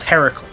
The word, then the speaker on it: Hercules: savannah if you're unaware the original greek he's pronounced heracle in the original eventually when the romans got their hands on his story they dropped the a at the beginning and just called her so our disney cartoon decided to use the roman pronunciation in their greek story